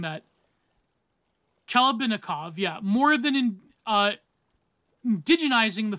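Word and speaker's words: Khlebnikov: Vladimir Klebanikov, how am I pronouncing that? Klebanikov, yeah.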